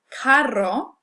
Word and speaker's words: carro: Now, when we have a double R, this is called a trill, and that's the famous Spanish R that a lot of people find difficult to pronounce. So, carro, you'll notice, is different from caro. Carro meaning car, caro meaning expensive.